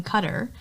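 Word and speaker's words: Qatar: orar cutter is it cutter yeah it's supposed to be pronounced cutter oh okay I go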